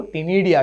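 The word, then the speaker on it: ctenidia: है gills, feathery gills, जिसको टिनिडिया कहते हैं, सी साइलेंट बच्चों, सी साइलेंट।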